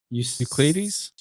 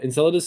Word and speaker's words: Enceladus: You you said uh can't pronounce that word Uklades. Uklades. Yeah, Uklades and Europa. Those are the two ones. Ulad Enceladus. Enceladus. Enceladus. Oh, okay.